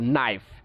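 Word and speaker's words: knife: সো দেখেন for example নাইফ, নাইফ প্রথম sound কি খ, তারপরে নাইফ, নাইফ, এখন নাইফ উচ্চারণ করতে দেখেন কষ্ট হচ্ছে, নাইফ। সো আমরা এখানে কী করছি, খটাকে আমরা বাদ দিয়ে দিচ্ছি, নাইফ।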